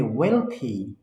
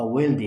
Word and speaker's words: wealthy: এটা উচ্চারণ হবে healthy, এটা উচ্চারণ হবে wealthy। এটা কিন্তু হেলদি না বা ওয়েলদি না, ঠিক আছে?